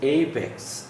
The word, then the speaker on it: apex: a backs this is apex apex primary stress is put on a a this diphthong here a Amex apex and this is the